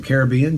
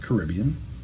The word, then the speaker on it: Caribbean: It's a history of the indigenous peoples of the Caribbean, or the Caribbean, depending on how you want to pronounce it. Obviously, I picked Caribbean, and it's quasi-academic.